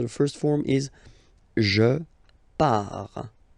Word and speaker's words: pars: So the first form is je pars. So final S not pronounced. Je pars. Tu pars.